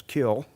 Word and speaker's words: kiln: the european technology of the potter's wheel and kiln which incidentally in the south is pronounced with a silent anne as kill and the european jug form they're coated with